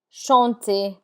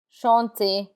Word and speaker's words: chanter: There are exceptions to that rule, and the R is not pronounced in words that end in ER. This list of words are mostly verbs like danser, to dance, danser, chanter, chanter. The ER has an A sound like AY, danser, chanter.